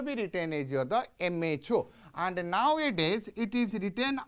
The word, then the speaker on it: mho: in the reverse order so if om you will pronounce and make it in the reverse way that is equal to your the m h o that is your the